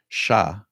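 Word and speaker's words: chat: you know it's it's if you take the letters and pronounce it in French sha it's cat so yeah that could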